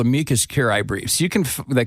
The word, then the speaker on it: amicus: all these groups filing amikas briefs on behalf of the issue that they believe I always mispronounced it I called it Amicus it's amus I don't know I